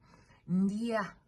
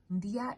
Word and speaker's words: ndya: Ndia. Ndia is 1 syllable. NDYA. Ndia.